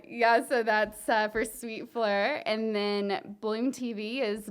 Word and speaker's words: Fleur: want you to pronounce it. Fleur. Oh, Like sure. you are from the South. Fleur sure. That's how you had me do it, and that's how I had to remember. Fleur sure. Fleur sure.